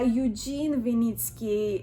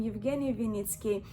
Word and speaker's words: Evgeny Vinitsky: He is based in Switzerland and also known by Eugene Vinitsky. It's more, I guess, the English pronunciation of his Russian name, Evgeny Vinitsky.